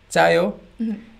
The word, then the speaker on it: 짜요: and 꿀, and also when you taste something and you say 짜요, it can sound like, if your pronunciation is a bit off, you can sound like you're saying 차요, it's cold, or 자요, it's sleeping.